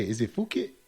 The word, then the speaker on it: Phuket: Is it Phuket? Phuket.